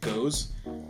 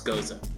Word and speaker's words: Gose: and by the way, I used to pronounce it Gose, but then I heard someone say Gose, and I'm like, why are you being pretentious? And they're like, no, it's Gose.